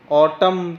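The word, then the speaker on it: autumn: का साउंड आया है बट ऑटम ऑटम के अंदर हमने लास्ट वाला एन रीड नहीं किया एन यहां साइलेंट है ऑटम तो इसको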